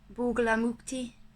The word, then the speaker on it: Bagalamukhi: Oh, you say a name like Bagalamukhi, not Bagalamukhi. Bagalamukhi. It's pronounced different to how it's spelled.